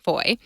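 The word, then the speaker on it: foi: And foy is French, F-O-I is how it's spelled, but it's pronounced similarly, foy. In French means faith or belief.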